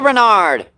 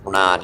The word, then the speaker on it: Renard: Let's see, Chris says, hey, Renard. Or Renard, I believe it's pronounced Renard. Yeah, sorry.